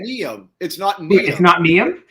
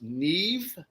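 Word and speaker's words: Niamh: name hackett it's not neo apparently it's pronounced neve like n-e-e-v as in veronica neve oh really but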